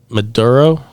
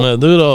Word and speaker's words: Maduro: Maduro.